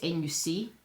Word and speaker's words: nuc: A nuke is, it's N-U-C. I guess you could call it a nuc, but it's pronounced nuke.